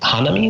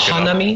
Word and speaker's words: Hanami: One that is most on my mind these days is Hanami, which used to be called Lotus, by Luca Guidi.